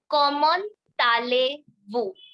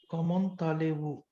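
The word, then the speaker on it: comment allez-vous: u s so now the pronunciation will be common tal Vu common tal Vu yeah you have to pronounce the T letter of ko along with the Ali Comm Tali Comm Tali now M sound will also come here Comm Tali so this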